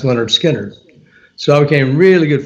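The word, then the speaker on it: Lynyrd Skynyrd: their first album um pronounced leonard skinner so i became really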